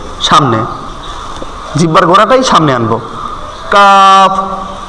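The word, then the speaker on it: كاف: ওই গোড়া থেকে সামনে জিহ্বার গোড়াটাই সামনে আনবো কাফ কাফ একটু ট্রাই করেন কাফ তারপর লাম লাম কিন্তু আমরা সোজা ভাবে লাম উচ্চারণ করি লাম এখানে হবে জিহ্বার আগার কিনারা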